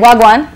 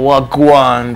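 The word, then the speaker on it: wagwan: saying oh she yeah she's saying it right a lot of people say well what are going on or what go on but it's like it's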